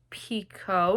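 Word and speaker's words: Picoult: mad honey by Jodie Pico I think her last name is pronounced and Jenifer finny boin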